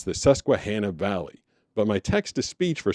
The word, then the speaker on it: Susquehanna: how to say Susquehanna Susquehanna Valley. And it is it's more like Han like Hannah Montana as opposed to Han like Han Solo.